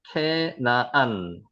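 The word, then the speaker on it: כנען: 그래서 우리는 가나안 7조, 가나안 민족 계속 성경의 구약에 나오는 가나안 인조 케나안이라고 읽혀집니다. 한번 읽어 보세요. 케나안 케나안 캐나안 이렇게 뜻이죠.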